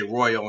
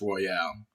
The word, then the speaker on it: Royale: People say Royal, it's like, no, it's Royale.